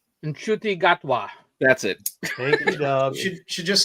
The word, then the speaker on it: Gatwa: of uh I don't want to say his name wrong I used to be able to say it right gatwa that's it than should just skip all of